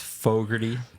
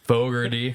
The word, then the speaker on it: Fogarty: So you said Fogarty, it's Fogarty. Fogarty. Fogarty. Is that how you say it in New York? Yeah, and it does look like Foggs, but it's Fogs, but still, it's how it goes, dude.